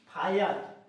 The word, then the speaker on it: fire: शब्द के अंत में अगर IRE हो तो उसका उच्चारण क्या होगा, अर होगा। सिंपल सी बात है। देखते हैं यहाँ पे उदाहरण से समझते हैं। जैसे कि फायर, आपको यहाँ पे दिख